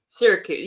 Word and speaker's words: Syracuse: is that right uh Sy Cruse is that how you say it I'm not sure if I'm saying that right China is it Syracuse Syracuse yeah that's it but it's um it's